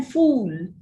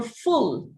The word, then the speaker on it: full: you had your breakfast you say yes i'm fool you can't a native speaker would wonder why you're calling yourself a fool whereas you would actually want to say that you're full right so then make a clear distinction between a long vowel and a short vowel which is very important